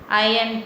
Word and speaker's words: iron: First point, humans discovered iron and started using iron tools and weapons. Iron tools, I-R-O-N, iron. You have to pronounce iron. R is silent here.